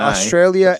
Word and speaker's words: Australia: Australia ends with an A, not an R.